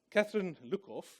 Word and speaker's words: Catherine Luckhoff: So, Catherine Luckhoff is how you pronounce it.